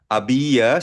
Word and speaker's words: había: Ya abiya comido cuando mi amigo abia silent h palagi ang lra h i had already i had already eaten when my friend arriv kumain na ako nang dumating ang kaibigan ko.